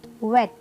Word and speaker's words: vet: जो टीथ है, सॉरी, नीचे वाले लिप्स को वो टच करने चाहिए। The word is VET। वी इज फॉर द वेट, वेट, वेट।